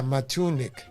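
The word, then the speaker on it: Matunuck: He's telling you have to pronounce it Matuna. Yeah, Matunik. Matunik Surf Rat.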